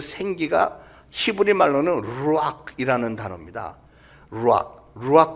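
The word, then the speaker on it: רוח: 루악 커피라고 있잖아요. 고양이 분비물 지나온 그 커피를 그 루악 똑같은 발음인데 루악 하나님의 영 성령이에요.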